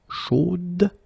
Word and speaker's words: chaude: the end, and then the pronunciation will change a little bit, chaude. So here you pronounce the final d, whereas in the masculine form you don't pronounce it.